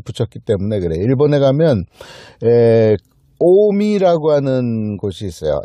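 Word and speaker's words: 近江: 일본에 가면 오미라고 하는 곳이 있어요.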